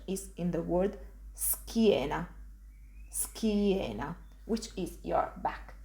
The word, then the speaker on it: schiena: Again, I'm just pronouncing s and then ki. Ski. An example of this pronunciation is in the word schiena.